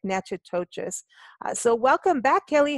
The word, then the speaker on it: Natchitoches: It's like Natchitoches.